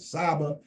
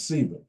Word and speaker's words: sba: this concept of CA some people have pronounced it Saba um the convention is SAA it means to teach